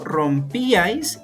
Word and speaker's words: rompíais: Mientras que en rompíais notamos que hay tres sílabas. En este caso, rompíais, íais no sería un triptongo. ¿Por qué? Porque la mayor fuerza de voz, como podemos notar, está en una vocal cerrada.